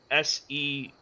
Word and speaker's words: Seraphina: Lady Safrina? Yes. Safrina. Lady And Safrina, the mayor? Yes. And that's spelled Seraphina.